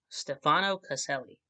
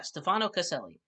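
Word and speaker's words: Stefano Caselli: these freaking ads okay Stefano celi is what it looks like that's how that looks it's pronounced oh D sorry guys having a bad time with acid reflux at the moment um yeah Stefano casselli dude's killing it the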